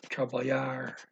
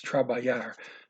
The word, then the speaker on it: trabalhar: Okay, so trabalhar is to work. That's with the LH. That's trabalhar. Try to remember not to pronounce the L.